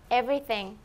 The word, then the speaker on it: everything: Everything. 왜 우리는 이 띵이 안 될까?